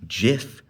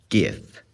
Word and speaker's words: GIF: So I've talked about the debates on how to spell and how to pronounce words on my channel. And recently I heard about the debate between Jih-f versus Gih-f.